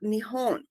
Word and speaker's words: Nihon: Well, Japan, pronounced in Japanese Nippon or Nihon, is a Pacific Ocean island nation of the coast of mainland Asia.